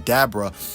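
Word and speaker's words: Dabura: him I call him dabra is because that's what his name is based on Abracadabra even his father's name is Abra so Abra well dabra well Abra is correct obviously but dabra is a more correct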